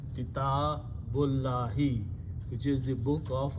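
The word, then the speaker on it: كتاب الله: When we read them together, we do not pronounce this alif, so it becomes kitabullahi, which is the book of Allah.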